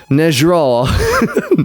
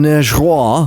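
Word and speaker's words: negro: Nejraw.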